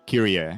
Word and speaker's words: Kyrie: Kyrie is how it's said. Does you correct her? No, the character herself doesn't correct. Okay, good to know. Thank She's you, because I thought it was just Kyria.